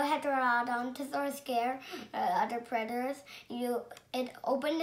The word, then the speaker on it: Heterodontosaurus: I'm going to tell you how to pronounce it. Heterodontosaurus. Heterodontosaurus.